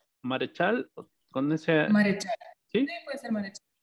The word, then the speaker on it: Maréchal: Y bueno, me gustaría empezar por preguntarle, ¿sí, tu apellido se pronuncia Marechal? Marechal.